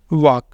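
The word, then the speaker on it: walk: नौ दूसरा है वॉक यहां पर एल लिखा तो है लेकिन हमने बोला नहीं है वाल्क नहीं बोला ये है वॉक यहां पे ये दोनों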